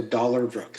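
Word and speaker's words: Dollarbrook: Um, and and phonetically it's D O L L A R B R O K. So, dollar brook.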